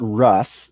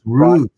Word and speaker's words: Ruse: He said, it's not Russ. It's Ruse. Blues. Yes, Ruse. Ruse.